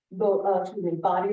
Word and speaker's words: Bodie: And Body Lighthouse is spelled like Bodie, but don't say Bodie. It's actually pronounced Body.